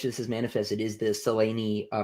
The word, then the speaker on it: Selene: Um and uh one of the ways in which this is manifested is the Seleni uh pronunciation argument. Um because it's Seleni, right?